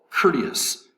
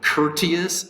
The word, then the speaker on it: courteous: d us three syllables courteous has the accent over the first syllable courteous the t in courteous is pronounced like an american uh or like a d so instead of courteous it's kurdish courteous courteous